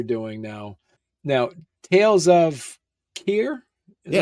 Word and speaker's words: Khayr: story that you're doing now now Tales of Kier is how you pronounced it yeah okay talk to us a